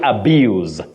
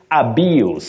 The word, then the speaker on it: abuse: kissy when you use the verb you say abuse to abuse something or somebody but the noun you say abuse abuse with that sound the verb abuse okay the noun abuse Peter and lual of